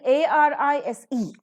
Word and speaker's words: arise: never on the suffixes say for example a r i s e a rise dial syllabic word right you don't say arise in spite of the